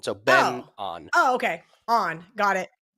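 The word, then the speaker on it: Byeong Hun An: Benon? He pronounces his first name Ben, just like Benjamin. So Ben on. Oh, okay. On. Got it. No. I thought it was Benoit.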